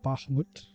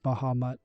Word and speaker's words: Bahamut: And then Bahmut. I'm assuming that's how you pronounce that. Although, you know what? It's It's like Baham, but it's Bahamut. Don't even bother. Bahamut.